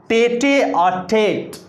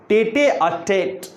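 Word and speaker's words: tête-à-tête: सो the word is टेटे-अ-टेट। टेटे-अ-टेट, टेटे-अ-टेट। इट इज a noun obviously, and it means, इसका मतलब है private conversation.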